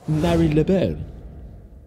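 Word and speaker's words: Marylebone: he goes uh tom you don't pronounce melodyne right it's mary leboue i kind of mentally flip a coin each time i say it so sometimes i say marleybone sometimes i say marilla bone let me know your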